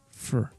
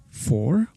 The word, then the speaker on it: for: Well, instead of pronouncing for, the complete sound, we are going to try and pronounce this as if we only had the letter F and the letter R, so without the letter O. So try to pronounce that. How would you pronounce the letter F and the letter R together? It sounds something like fur, fur, fur.